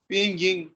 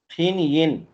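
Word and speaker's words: 拼音: ये वाला जो लफ्ज है, ये वाला PINYIN, इसको क्या पढ़ा? पिंगिंग। नहीं यार, फिन यिन।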